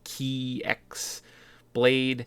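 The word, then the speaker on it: χ-blade: I think it's spelled with an X, so it's like Key X Blade. Yeah, because it's the Greek letter for X.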